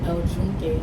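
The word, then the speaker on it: El Yunque: I wanted to go into El Unique El Jun. That's what they call it here. When you spell it out in English, it's Yuk, but they call it El Jun.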